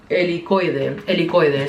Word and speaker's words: Helicoide: Helicoide.